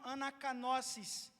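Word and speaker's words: ἀνακαίνωσις: A palavra renovação é pronunciada como anakanosis.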